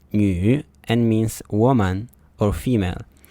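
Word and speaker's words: 女: character at the top on the left is pronounced new and means woman or female and is also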